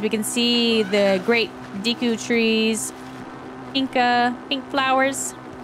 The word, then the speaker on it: Deku: can see the great Deku trees Inca pink flowers is it Deku or Deku I guess technically Zelda's voice actress she says Deku but all my life I've always pronounced it Deku and then for the